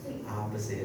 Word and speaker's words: opposite: And then the second word is opposite. It has word stress in the first syllable. Opposite. Okay. Once again, opposite.